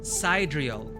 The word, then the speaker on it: sidereal: Did I pronounce it? No, sidereal.